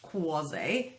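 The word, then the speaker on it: croisé: Let's talk about croise. Pronounced croise, but spelled C-R-O-I-S-E.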